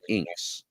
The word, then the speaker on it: INKKS: The organization is called International Neoclassical Karate Kabuto Society, INKKS, or as we pronounce it, INKS, INKKS.